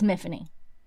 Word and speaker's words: Myfanwy: It goes on to say the body is called Miffany, which is it's not how you actually say that name, and it is mispronounced, and they even call attention to it in the book, but it is Miffany, spelled Myfanwy, but it's Miffany.